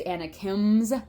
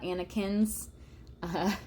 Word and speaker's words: Anakims: Uh, it is Anakims, not Anakin. Would be pretty cool if it was Anakin, but it's Anakims.